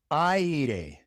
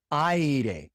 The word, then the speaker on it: aire: reina aire aire If you want to make the I sound in Spanish, you have to write it with A I because the A makes the ah sound and the I makes the ee sound.